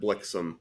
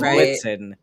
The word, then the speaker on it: Blitzen: Yeah, Blixen is nothing and does not rhyme with, like, it's not as good of a rhyme with Vixen as Blitzen.